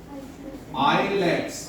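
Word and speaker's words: islets: आइलेट्स, नॉट आइलेट्स, ए साइलेंट है।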